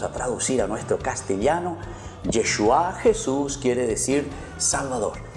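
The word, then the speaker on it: ישוע: La palabra Yeshua, Yeshua, que después nosotros traducimos, queridos niños, en el nombre de Jesús, se dice Yeshua en hebreo. ¿Cómo se dice en hebreo el nombre de Jesús? Yeshua.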